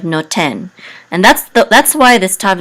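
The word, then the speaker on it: נֹתֵן: So in ancient Biblical Hebrew, this would have been nothen instead of noten.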